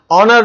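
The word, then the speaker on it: honour: आप देख सकते हैं इट्स एन ऑनर to work with him तो यहां एच से शुरू हो रहा है स्पेलिंग से कोई मतलब नहीं है साउंड से मतलब है इसी टाइप से डिफरेंस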